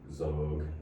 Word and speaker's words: XOG: So anybody that's trying to look them up, it's XOG Zog is the other band. I assume that's how it's said.